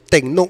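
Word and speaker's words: τέκνον: juan 112 se usa la palabra tecno si se pronuncia techno usted puede corroborar eso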